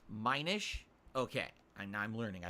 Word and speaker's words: Minish: when I was mentioning those did I it's pronounced Minish okay and I'm learning I had no idea